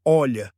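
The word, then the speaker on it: olla: A ola, pronuncia-se olha, é um pote de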